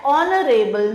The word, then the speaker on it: honorable: He is dash honorable man. Again H is silent.